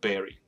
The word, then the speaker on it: bury: 的名词，但是埋葬叫做 berry，跟 strawberry 的 berry 发音差不多。